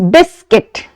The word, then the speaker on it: biscuit: to it which is biscuit. Biscuit. In this word, we do not pronounce the sound of letter U, but we place it over there and we sound it like let this biscuit.